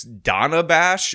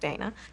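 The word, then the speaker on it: Dana Bash: was just asked by, apparently it's Donna Bash, which by the way, Kamala mispronounced, and she did it on the A, and considering she's criticizing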